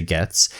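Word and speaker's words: Gaetz: matt getz i think i don't know how to say his last name but i'm gonna say gets g-a-e-t-z and it's his mug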